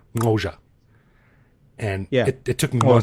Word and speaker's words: Xhosa: it means but yeah you pronounce it kosha and yeah it took